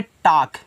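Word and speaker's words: talk: ए एल के देखो जब आपको एल के बाद के दिया जाए ना तो एल को करते हैं साइलेंट क्या करते हैं साइलेंट करते हैं जैसे ये देखो टी टी ए एल के है तो इसको पढ़ेंगे टाक। क्या पढ़ेंगे? टाक पढ़ेंगे इस तरीके से।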